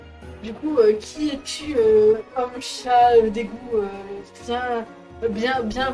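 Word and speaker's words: Seam: coup qui es-tu hommes chats des goûts bien bien bien du est bien utile mais rien eu à faire mais mon nom estime ça se prononce cha cha était mon petit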